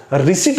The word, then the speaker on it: receipt: रिसीट बोलेंगे, P is silent here in this word, RECEIPT, रिसीट।